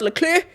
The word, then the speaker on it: Leclerc: Charles Leclerc.